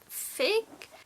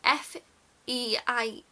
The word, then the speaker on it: Feig: So the director of this film, I'm going to have to look up his name, is Paul Feig?